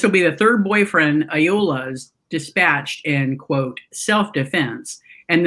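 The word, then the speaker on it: Ayoola: Yeah, and the accent seemed to fall. The stressor seems to fall on the final syllable, like on all of the names.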